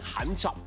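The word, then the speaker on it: 咸湿: 广东话的发音 ham shop。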